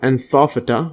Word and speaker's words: Anthophyta: Anthophyta. Yeah, so Google pronounced that.